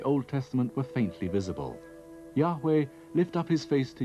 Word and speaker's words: Yahweh: y h v h it was probably not pronounced jehovah but yahweh only one object has